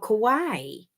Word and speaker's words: kawaii: They're oh my gosh, I think they're called Kawaii. Is that right? Is that called Kawaii? Wait a minute. I don't even know where my mirror is. Is that Kawaii? Because it's spelled like Hawaii.